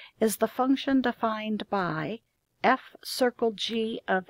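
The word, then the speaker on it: f ∘ g: The name of the composite function is f circle g, pronounced f circle g.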